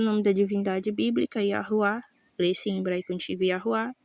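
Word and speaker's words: יהוה: Mas em hebraico antigo, a pronúncia é Yahuá, simplesmente assim, tá ok?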